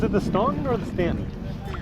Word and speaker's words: Staunton: So I wasn't sure if it's pronounced Stanton or Staunton. He says it's Stanton, and he has some local ties here.